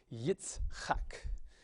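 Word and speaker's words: יצחק: So consonant, vowel, consonant, we divide it here. This is a closed syllable. And then again, consonant, vowel, consonant, this is also a closed syllable, and so you say Yitzchak.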